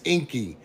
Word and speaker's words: Enki: It's Enki. Enki is the stars of the underworld, the stars after dark. Anu is Orion in the center of both of them. You get it? That's why Enki is always connected to the underworld.